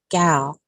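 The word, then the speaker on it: gyal: Though Hutton does not discuss minstrelsy, his term gal, that's spelled G-Y-A-L, can apply to this queen speaking a pseudo-dialect that could come directly from the minstrel show.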